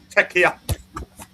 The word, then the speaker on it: Czechia: That's how Czechs want to be pronounced. Czechia. Czechia. Czechia.